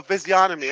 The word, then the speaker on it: physiognomy: I thought the G is not pronounced because, you know, it's like sign or okay. Physiognomy. There's no G.